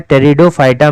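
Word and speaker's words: Pteridophyta: होते हैं ठीक है तो प साइलेंट इसमें होता है टेरिडोफाइटा में क्या है कि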